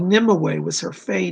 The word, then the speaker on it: Nimue: It's spelled Nimue, but it's pronounced Nimue. It's an ancient Welsh name.